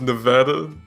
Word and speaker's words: Nevada: it uh it's pronounced nevada no not nevada nevada nevada no influence on not so much emphasis on the a there yeah if i'm technically